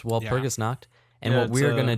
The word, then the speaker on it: Walpurgisnacht: Say it right. Walpurgisnacht. Walpurgisnacht. Walrus Because night. there is no W in German.